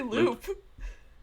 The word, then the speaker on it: Lupe: does look like Daran you say l Lupe how do you say it I say loop it's got it's Lupe because like so it's not L it's a wolf not a not an